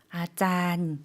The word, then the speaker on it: อาจารย์: อาจารย์ 아짠. 좀 장모음으로 길게 발음해 주시면 되고요.